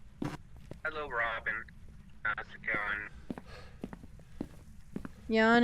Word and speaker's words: Jan: Jan is male. It's pronounced Jan, not Jan, as in Janice.